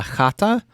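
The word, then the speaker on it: chata: in czech they actually call it a hata but it's spelled c-h-a-t-a it's not that far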